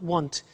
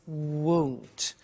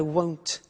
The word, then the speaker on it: won't: Be careful with the pronunciation. It's not want, it's won't. So the example is I won't buy it or I won't pay by cash.